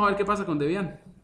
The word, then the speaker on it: Debian: Algunos lo pronuncian Debian, otros lo pronuncian Debian. En México se pronuncia Debian. Yo he hablado con colegas mexicanos y dicen Debian, me dicen Debian. Yo lo digo Debian, pues no es una cuestión, digamos, tan complicada.